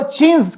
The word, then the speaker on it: chintz: असल में इसको हम कश्मीरी में छिट बोलते हैं। क्या बोलते हैं? छिट। ये प्रिंटेड क्लॉथ होता था, तो इसको अंग्रेज, अब छींट इंडिया में बोला जाता था इसको, लेकिन अंग्रेज इसको प्रोनाउंस नहीं कर पाते तो उन्होंने चींज कहा।